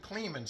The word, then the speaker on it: Kleeman: Hey everybody, Al Puglisi Trains, and I'm over at Kleeman's house. Is that pronounced Kleeman, right? Yes, you got it.